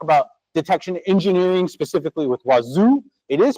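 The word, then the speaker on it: Wazuh: and um talk about detection engineering specifically with Wazoo. It is pronounced wazoo. Um especially when you're South American, that's really cool. I I talked to people and they said wazu and man, I can't argue with that.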